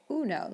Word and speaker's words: uno: Another common error is the letter U. We all know this is uno, and we don't say you know, we say uno, like uno, dos, tres.